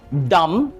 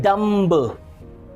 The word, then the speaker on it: dumb: Okay, कुछ और words हैं, जैसे आपने सुना होगा डम, ऑलराइट, DUMB, डम मींस गूंगा। बहुत से लोग इसे प्रोनाउंस करते हैं डम्ब। It's never be dumb, it's dumb.